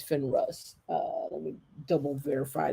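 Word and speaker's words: Finarus: fine I guess it's finra's is what it is not finra I think it's Finn rust uh let me double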